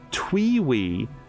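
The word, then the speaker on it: TWEWY: customer come in and asked for TWY pronounced twe we I said there's no game called Twee and they said the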